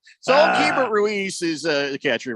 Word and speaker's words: Keibert Ruiz: A man card salute and pour a little bit out for Keibert Ruiz from the Washington Nationals. Did I say his name right? Is it Keibert Ruiz?